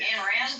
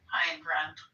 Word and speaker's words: Ayn Rand: Did I spell it right? Yeah. Ayn Rand? No, you got it right. No, you got it right. It's Ein. Ayn Rand.